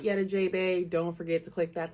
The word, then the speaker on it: Jeahbaes: That makes you a Jeahbaes, and the way you remember that is that gray rhymes with bay and J.